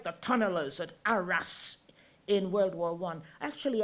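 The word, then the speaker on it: Arras: the tunnel of at Aras in World War I actually I went there and they call it AR they don't the French don't have pronounce the last letter in a word ARA and Charlie upam who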